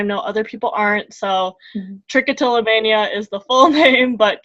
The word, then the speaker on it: trichotillomania: to be talking about tri-coat illa mania sorry trichotillomania one of the longest